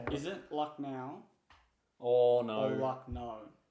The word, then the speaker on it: Lucknow: All the ads say Lucknow. I don't But you really can't care. just- It's Lucknow. What? It's no can. N-O-W is pronounced no, apparently.